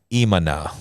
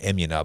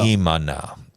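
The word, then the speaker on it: אמונה: And in Hebrew, the word is imana. Yes. Imana. Yeah. But it's faith. I know it looks like emuna, but it's pronounced imana. Yeah. Imana.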